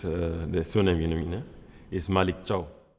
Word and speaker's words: Malick Thiaw: Could you just tell us what what the correct pronunciation of of your name is? Yes, it's the surname. Arena is Malik Cho.